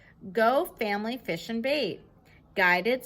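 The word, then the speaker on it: Gaux: Go family fish and bait. Guided swamp tours, live bait, crawfish by the sack. Box lunches to go, only that go is spelled G-A-U-X. Get it? Like a pun.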